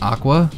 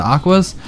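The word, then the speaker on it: Aqours: um we know obviously the direct Japanese pronunciation is aqua but we're not exactly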